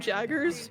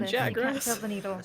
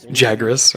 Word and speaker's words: Jagras: I also love what they're we're calling them Jaggers because they spelled the name wrong on the avatar. A little bit of anesthetic so you don't They're called Jagras. Jagras.